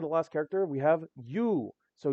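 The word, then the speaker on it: Ю: Pronunciation is U. The character it kind of looks like an I and then a dash and then an O, but it's not I dash O, it is U.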